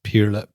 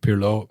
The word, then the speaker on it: Pirlo: I also remember that he was pronouncing Pirlo wrong when he was managing Inter Milan. And Pirlo didn't like that because Pirla instead of Pirlo means dickhead.